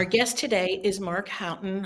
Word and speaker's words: Haughton: guest today is Mark Houghton. Houghton. I said it right. Houghton. Did I pronounce it Correct.